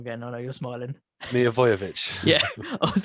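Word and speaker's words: Milivojević: It was like, and Milolovic was like, I can't, it was like, go screaming at the ref. I know I've said his name wrong again. I know you're smiling. Milivojevic.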